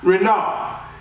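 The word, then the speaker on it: רִנָּה: The Hebrew word for joy in this text is pronounced renah.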